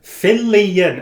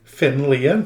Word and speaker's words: Fillion: Fillion. Fillion. Finlian? No! That's not how it's pronounced.